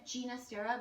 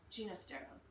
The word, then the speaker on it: Ginastera: I always learned it as Ginastera because even though he's Argentinian, he was of Italian extraction and wanted the more Italian pronunciation, if I'm not mistaken. Okay, Ginastera.